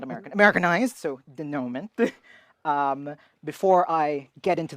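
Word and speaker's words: dénouement: the we Saga and I pronounced denom that way because in my school that's how we were taught not like the American pron pronunciation and not the French pronunciation and the rest of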